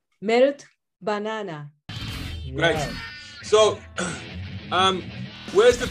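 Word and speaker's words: Melt-Banana: Melito Banana.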